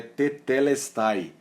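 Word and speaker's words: τετέλεσται: A pronúncia é tetelestai, né?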